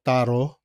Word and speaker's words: tarot: Taro. Ano ba ang ang magandang ano ba talaga ang pronunciation?